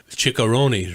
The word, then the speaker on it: chicharrones: You got to roll your R's.